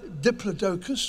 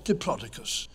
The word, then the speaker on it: Diplodocus: There are two ways of pronouncing its scientific name. It's either Diplodocus or Diplodocus.